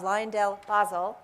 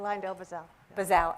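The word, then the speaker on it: LyondellBasell: to him is karen ovelman she's cfo of liondell basel did i say it correctly i lined elbazel bizzell i keep practicing and i get it wrong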